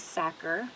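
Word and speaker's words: Sachar: the author is Luis sacker it looks like stature but it's not and so Sakura if you can remember anything it reminds mr. cracker or it rhymes with cracker so when you're looking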